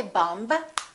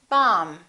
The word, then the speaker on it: bomb: example don't know that the b is silent in the word bomb we don't say bumb we say bomb let's review some very